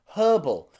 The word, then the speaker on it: herb: words like herb and herbal i'm from the uk so you can hear me pronounce the letter h at the beginning of these words herb and herbal okay